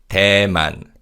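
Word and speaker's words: 대만: Tman.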